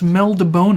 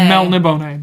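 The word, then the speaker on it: Melniboné: morocco fortunately and and it's mel de bone it's got the accent above the e there's no n d there's an n melon in the bottom sorry mel nibonne but it's still bone a bone yeah sophisticated but um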